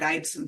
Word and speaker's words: Eidson: So it's a Norwegian in origin, but yeah, different people pronounce it a different way, but I do it Eidson.